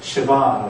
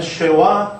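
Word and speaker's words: שְׁוָא: 그래서 어떤 문법책에 보면 쉐와, 스와, 스바 뭐 이런 식으로 할 거예요. 그러니까 이 쉐바의 발음을 아주 짧은 거의 뭐 들릴 듯 말 듯한 발음이 날 경우에는 그렇고요. 그 다음에 쉐와라고 발음하는 것은 우리가 앞서 1과에서 배웠던 것처럼 바브의 발음을 W를 V로 할 거나 워로 할 거냐의 차이니까 쉐와나 쉐바나 같은 말이다.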